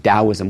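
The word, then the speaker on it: Daoism: sometimes spelled with a D um it's always pronounced dosm with a d but there were some linguistic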